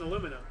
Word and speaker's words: aluminum: announced tariff increasing on Turkish steel and aluminum whereas the British say aluminium yeah they must have